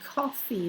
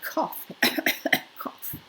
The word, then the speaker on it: coffee: So instead of saying coffee, they say cough, cough. No, coffee, not cough.